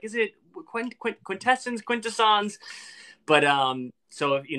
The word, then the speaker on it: Quintessons: bit yes the quintessons we pronounce it quintessence and then someone on one of my videos was like it's pronounced quintasons sorry you know they